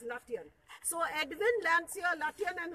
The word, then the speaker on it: Lutyens: See, in Hindi we say Lutyens, but in English it is pronounced as Lutyens.